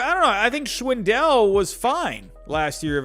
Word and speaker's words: Schwindel: uh oh wait no i'm saying his name wrong again oh no schwendell that's what it was i'm sorry i'm sorry i'm saying swindle schwendell uh but yeah so